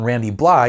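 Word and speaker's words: Randy Blythe: is actually the lyrical direction that front man randy bly yes that's how you pronounce his name took things in thurmondrom of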